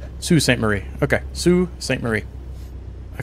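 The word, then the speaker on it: Sault Ste. Marie: however you say it archetype can correct me but uh s like Su Sue St Marie okay Sue St Marie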